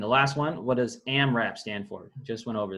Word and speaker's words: AMRAP: All right, next term, AMRAP. That's how it's pronounced. It's an acronym. Abbreviations for as many reps as possible.